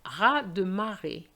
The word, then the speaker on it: raz de marée: But be careful, raz de marée, which is a tidal wave. Raz de marée, so the Z of ras is silent.